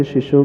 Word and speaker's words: शिशोः: अंतिम चरण में निज शिशो के बाद विसर्ग है तो शिशोः ऐसा उच्चारण होना चाहिए।